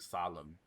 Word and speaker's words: solemn: you know so like you say the word solemn well the end is silent well why would